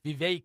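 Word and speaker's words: Vivek: runner for the yeah VI rhymes with Kate ramaswami yeah he's the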